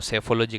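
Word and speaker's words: psephology: पैियोग्राफी कहते हैं study of ancient writings और साइकोलॉजी कहते हैं study study of human mind और सेफोलॉजी कहते हैं इसमें पी साइलेंट है दोनों में।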